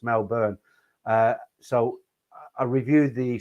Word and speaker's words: Melbourne: um meloburn i've always i've been pronouncing it melbourne i don't know why melbourne and somebody said it's mel burn uh so i reviewed